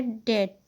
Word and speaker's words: debt: उसे कहा जाता है डेट, DEBT, डेट। इसे आप डेट प्रोनाउंस करेंगे, डेप्ट नहीं।